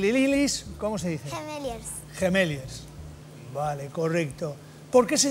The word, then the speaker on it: Gemeliers: dice gemeliers gemeliers gilis Cómo se dice gemeliers gemeliers vale correcto Por qué se llaman así pues